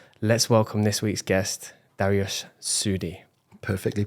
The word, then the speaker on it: Dariush Soudi: But without further ado, let's welcome this week's guest, Dariush Soudi. Perfectly pronounced.